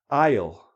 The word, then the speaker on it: isle: Isle, isle. So this goes I, down into the next syllable. Here the S is silent.